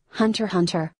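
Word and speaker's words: Hunter × Hunter: show I'm recommending is Hunter Hunter the letter x is silent they are two types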